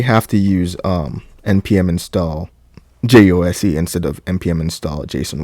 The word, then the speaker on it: jose: npm install Jose or Josie or something. I call it Jose based on where I'm from, where I'm at. So if it might be, you guys might pronounce it some other way, but it's npm install JOSE.